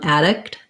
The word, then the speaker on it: addict: have a question about the word addict um so first syllable stress black cat vowel second syllable has the lax if vowel and addict addict we do a little cluster there at the end addict um and um